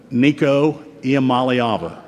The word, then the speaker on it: Nico Iamaleava: Can all of you pronounce the quarterback's name? Nico Iamaleava. You want to practice it? Let's go. Nico Iamaleava.